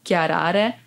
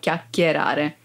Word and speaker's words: chiacchierare: chiacchierare cioè chiacchierare cioè the most Common error mistake would be Chiara Inside of chiacchierare 5 Five 5 five